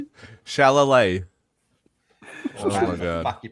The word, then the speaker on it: Chalamet: Timothy Chalamet. Chalamet. Oh my god. Fuck, you pronounce his name. I'm pretty sure the last Chalamet. time you said it right. It was Chalamet.